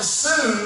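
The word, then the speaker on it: שׂוּם: And that little word purpose comes from a Hebrew word, sum, S-U-W-M, pronounced sum, and it literally means to appoint, to set a standard, to not diminish, not to sway.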